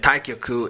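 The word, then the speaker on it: 太極: be complementary and interdependent taiji which is pronounced tagok in korean and taikyoku in japanese is featured in several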